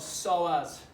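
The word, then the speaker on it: psoas: is one that gets into something called the solas muscle starts with p p s so as the d is silent so this one's kind of awkward to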